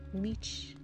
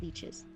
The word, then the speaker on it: liches: Without the Inquisition, he reasons, there is only the rule of liches. That's how you say it, not leeches.